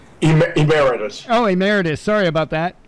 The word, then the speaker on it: emeritus: uh mcnight Professor I don't know how to pronounce emiritus Emeritus oh Emeritus sorry about that sorry at the